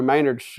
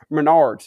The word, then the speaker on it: Menards: I was walking through Maynard's going to buy my pizza, and we bumped into each other in the plywood aisle, but that ain't how it happened. Menards, that's how you say it.